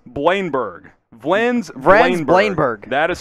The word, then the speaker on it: Bleijenbergh: Two syllables here. It's Vrenz Blein-Berg.